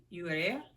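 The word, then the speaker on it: Urrea: of broken angels by luis luis alberto urea urea that's how you say it that's this one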